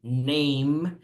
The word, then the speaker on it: name: Okay, the last letter is E, but this is not relevant because you don't pronounce name, no? You say name, so the last sound is M, yeah?